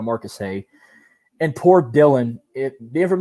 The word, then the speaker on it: Marcus Hay: He said my first name wrong. He said Mark Hay instead of Marcus Hay.